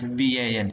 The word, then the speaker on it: van: Okay, work, WORK, it's pronounced as work, and VAN, it is van.